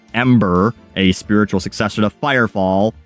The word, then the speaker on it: M8er: M8er, likely pronounced Ember, a spiritual successor to Firefall.